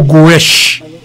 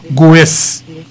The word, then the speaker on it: Goes: jeune ça que let S en espagnol tout prononcé en espagnol S mais portugais prononcé c'est Rodrigo Goes si c'est un espagnol il dit Rodrigo Gesè donc Rodrigo Gesèche monsieur